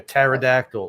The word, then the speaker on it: pterodactyl: It's like one of those funny things about the English language, those silent letters. Like pneumonia, pterodactyl.